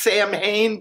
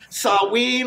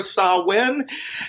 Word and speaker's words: Samhain: For the Wiccan Spiritual New Year, which is Samhain. It looks like it might be pronounced Samhain, but it's actually Samhain or Samhain.